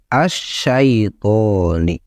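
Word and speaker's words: الشَّيْطَانِ: maka dalam huk humum Si lam ini harus diubah menjadi syin ya jadi seperti ini dibacanya di asyaitoni setelah itu dalam tulisan dua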